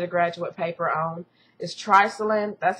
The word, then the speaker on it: triclosan: The other thing, this is a big thing that's I did a graduate paper on, is Triclosan. That's how I pronounce it.